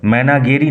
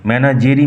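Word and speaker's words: Menagerie: রেখেছি following passage ইজঅান extract from ম্যানাজেরি manner উচ্চারণ লক্ষ্য করো ম্যানাগেরি নয় ম্যানাজেরি ম্যানার বাই জেরাল ডুরেল জেরাল ডুরেলের লেখা ম্যানাজেরি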